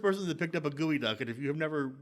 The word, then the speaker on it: geoduck: that picked up a gooey duck and if you have never like it looks like geoduck but it's pronounced gooey duck so google it if